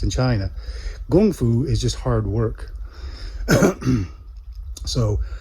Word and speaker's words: gongfu: it gum flu is how I heard it pronounced in China gongfu is just hard work so kung fu is